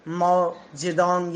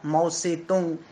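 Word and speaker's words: 毛泽东: रही है, या फिर माओ जेडोंग या माओ से तुंग, अलग अलग प्रोनाउंसिएशन हो सकते हैं इसके, उनके समय से ही चीन ऐसा हो गया।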